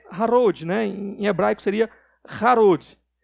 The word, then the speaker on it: Harod: Em hebraico seria Harod. E essa palavrinha Harod é quase idêntica, mesma raiz, só muda a pronúncia, de uma outra palavrinha que é Hared.